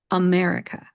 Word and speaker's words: America: If you didn't, let me try to pronounce it one more time and see if you can hear that schwa vowel sound. America, America.